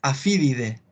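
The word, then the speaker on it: Aphididae: La familia es Afidide. Lo voy a escribir aquí, en el chat. Ahí está. No me equivoqué, era sin Y, perdón. Siempre la AE se pronuncia en inglés como E nomás, ¿ya?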